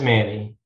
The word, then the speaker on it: Many: there in many louisiana is it pronounced many or is it some weird cajun accent that i don't know it's just manny manny not so many not many it's it's manny and if you are